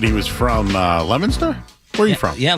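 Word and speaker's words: Leominster: who I he said he was from uh Lemonster. Where are you from? Yeah, Lemonster. Yeah, Leo Minster, right?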